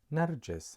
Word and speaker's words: Narjis: And J with a short vowel E, you'd pronounce it Narje. And finally, the last letter is S. You would read it Narjis. And Narjis in Arabic means daffodil.